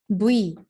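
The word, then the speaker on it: 뷔: misalnya tehyung kan namanya Via dibacanya itu buy Kenapa karena Vi ini sedikit deket sama huruf b dibandingkan dengan huruf P karena kalau diprotes bahasa Inggrisnya jadi kayak begitu kan jadinya buy kito Oke deh kalau gitu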